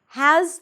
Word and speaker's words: has: Now, has to follows the same rules. Has, there is a Z sound at the end, even though it's spelled with an S, it's a Z.